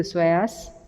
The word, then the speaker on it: psoas: They are both iliacus and psoas major together called iliopsoas. Iliopsoas. Psoas major spelling P-S-O-A-S. Psoas. P is silent there.